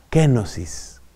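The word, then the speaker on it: κένωσις: Eso se llama en griego, que se escribe con la letra K, kenosis. Kenosis.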